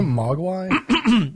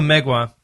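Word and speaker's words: Mgła: Is it Mogwai? No, Megwa. Where are we? Oh, It's a black metal band. It's spelled MGLA.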